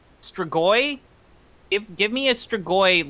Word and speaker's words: Strigoi: How's it pronounced? Strigoi.